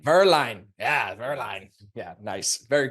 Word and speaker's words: Werlein: sounds European German it's pronounced in German it's pronounced verine Verline yeah Verline yeah nice very cool all right